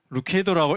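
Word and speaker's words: Lucado: 루카도로 읽어야 됩니까? 루케이도로 읽어야 됩니까? 하니까 I prefer 루케이. 루케이도라고 읽어 주세요라고 대답을 하셨거든요. 그래서 맥스 루케이도 목사님이시는데요.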